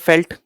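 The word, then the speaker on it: veld: South African region में they are known as वेल्ड, और इसको प्रोनाउंस करते हैं फेल्ट।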